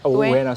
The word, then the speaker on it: Ueno: And so yesterday I walked Ueno Station. I don't know did I pronounce that right? Ueno Station, yes.